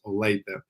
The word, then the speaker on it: Olathe: Everybody pronounces it the way that you do, but the correct pronunciation is Olathe.